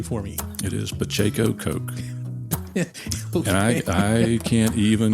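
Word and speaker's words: Pacheco Koch: it said so many different ways so uh pronounce it exactly correctly for me it is Pacho Coke and I I can't even go down the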